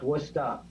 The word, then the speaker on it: Worcester: Yeah, it's actually pronounced Worcester. Worcester.